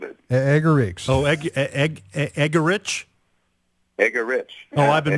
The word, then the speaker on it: Eggerichs: was born with it egar oh EG egar eggar Rich oh I've been mispronouncing it all all show sorry no you